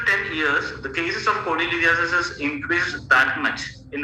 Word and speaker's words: cholelithiasis: Its correct pronunciation is cholelithiasis.